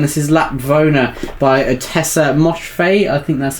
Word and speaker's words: Moshfegh: Is a book you mentioned earlier, and this is Lapvona by Tessa Moshfegh. I think that's how you pronounce it. Is that how you say her surname? Moshfegh, yeah.